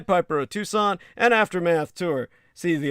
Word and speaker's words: Tucson: information contact uh the Tucson murders. comom spell that as you would tuxen Tu CS o n put the word the in front of it the Tucson murders.